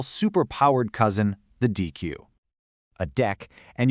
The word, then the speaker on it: deque: A deck, and you pronounce it deck, like a deck of cards, stands for double-ended queue.